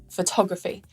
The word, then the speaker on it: photography: are some rules, like if the suffix graphy comes at the end of a noun, the syllable before it is stressed. Photography, not photography. Cryptography, not cryptography. And calligraphy, not calligraphy. So there are some stress